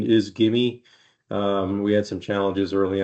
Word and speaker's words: GIMI: The pronunciation is GIMI. We had some challenges early on. Some people calling it GIMI, some people calling it Jimmy, but it is GIMI.